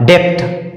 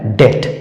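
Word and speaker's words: debt: हम लोग पढ़ते पहले मैं भी पढ़ता था डेप्थ जबकि ये गलत है क्यों क्योंकि बी के बाद टी आता है और नियम कहता है बी के बाद अगर टी आए तो बी का उच्चारण नहीं करते हैं अर्थात ये क्या लिखा हुआ है डेट तो आई थिंक ये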